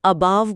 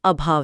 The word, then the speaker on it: अभाव: अगर कोई अबाव बोल रहा है तो वो अबाव ही लिखेगा, जबकि शुद्ध उच्चारण और वर्तनी अभाव है।